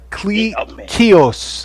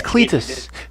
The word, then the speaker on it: Cletus: It's like uh cleos. I'm like his name is Cletus. There's so many words they mess up, man. Yeah, that's not right. You put the emphasis on the wrong sal.